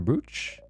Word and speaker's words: brooch: And the teardrops on your brooch?